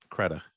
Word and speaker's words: Credé: you told me it's it doesn't look like you should pronounce it that way right right Keda yeah so that'll be